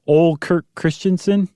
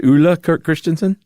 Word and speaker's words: Ole Kirk Christiansen: So, yeah, you remember in the Lego episode we called him Ole Kirk Christiansen? Oh, that's right. It was Ule Kirk Christiansen? Yep, that's the So, finally, after basically a decade, we have corrected ourselves that that is the inventor of Lego's name pronounced correctly.